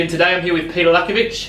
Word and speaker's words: Petar Lackovic: to turn you in today i'm here with peter lacovich how are you good richard how are you pronunciation perfect spot on mate perfect excellent now